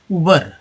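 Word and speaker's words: Uber: इसे लोग दो तरह से बोलते हैं, एक तो बोलते हैं उबर, ठीक है, कई लोग बोलते हैं इसे उबेर, है ना, उबेर, उबर नहीं, उबेर। अब बताइए इसमें क्या अंतर है, कौन सा करेक्ट है। दोनों अपनी जगह सही है।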